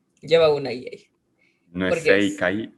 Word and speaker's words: Seikai: Lleva una I ahí, No es porque es Seikai, o sea, porque, o sea, yo lo pronuncio como Seikai, Seikai, no Seikai. Ajá, yo lo pronuncio como Sekai, pero es Seikai.